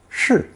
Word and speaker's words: 世: Pronounced shi, this 30-year lifespan pairs with several other characters